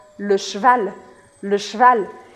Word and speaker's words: cheval: falar para você é praticamente para você cortar a letra E. Então fica le cheval, le cheval, le cheval. E principalmente o plural é bem trabalhado dessa palavra. Porque un cheval, des chevaux, chevaux.